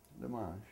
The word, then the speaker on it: L'Image: With L'Hommage, am I pronouncing that right? L'Hommage, yeah.